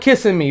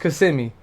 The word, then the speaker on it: Kissimmee: I used to call it kissing me, bruh. I'm sorry. I didn't know. I didn't know. I think it's pronounced Kissimmee. But I was definitely calling that shit kissing me.